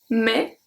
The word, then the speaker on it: mais: Mais, so I don't say mess.